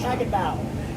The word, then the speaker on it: Hagenbuch: I'm told it's pronounced Hagenbuch.